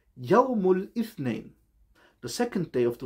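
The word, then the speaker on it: يوم الاثنين: Monday is called Yawmul Ithnain.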